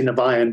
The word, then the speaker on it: Niviane: from people all over the world it's either pronounced vivienne or uh there's another one nivean or neva or something but it depends on